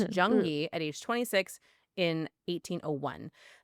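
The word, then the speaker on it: Zheng Yi: until married a pirate named Zang, sorry, Jung, because it's spelled with a zed, but it's Jungi at age 26 in 1801.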